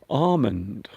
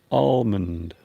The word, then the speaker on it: almond: Almond. Some people, when they pronounce almond, they might not pronounce the L.